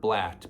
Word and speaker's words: blat: So tuning those reeds that I use for my doe bleats, call them a doe bleat, but remember the word blat, B-L-A-T. Shorten the word, shorten the syllables.